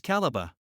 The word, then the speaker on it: Calabar: ethic name Aqua ACA the spelling calibar remained till the British came and pronounced calibar as calaba since the 16th century